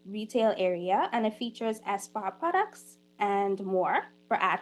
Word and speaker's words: ESPA: There's also exciting things going on at ESPA.